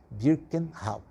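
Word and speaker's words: Birkenau: Auschwitz né e birken o outro birken agora sim a pronúncia certa birken e a Simone weisel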